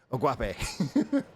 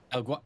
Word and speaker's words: El Guapo: And yeah, shout out to, I can never pronounce her name right. El Guape. Whatever. It's El Guapo.